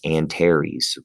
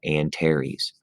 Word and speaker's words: Antares: of the scorpion but it uh it is pronounced antares please remember that antares with scorpius all right sagittarius is another one